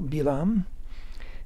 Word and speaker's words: Bilaam: by the name of bilam that's how we say his name in Hebrew bilam and uh he was